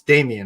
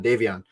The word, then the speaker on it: Davion: uh uh uh uh it's Damian right Damien Mitchell for the Kings or Davion Davion not gonna get your name wrong again because you've been